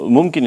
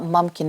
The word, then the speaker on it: Mumkin: course yeah um so mkin in Arabic means possible and you know oh so I'm saying it wrong it's not mkin it's mkin okay yeah